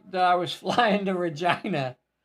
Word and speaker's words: Regina: I was flying to Regina I was fairly sure you're not pronouncing that correctly but yeah that is actually how they pronounce it okay sweetheart I think